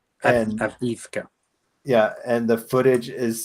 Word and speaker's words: Avdiivka: Advika? Avdiivka.